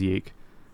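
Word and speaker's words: YIIK: numerals a lot, so it looks like it's spelled ye. Yeah. Um, so fans and haters alike often refer to the game as ye. What a legacy. Yeah. So, we'll be referring to the game as Yeeke lovingly and later on hatefully.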